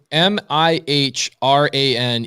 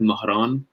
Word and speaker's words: Mahran: My name is Persian. It's pronounced in the dialect Mahran. So it's Mahran. I say Mahran with no H, no K in the middle. It's just an H.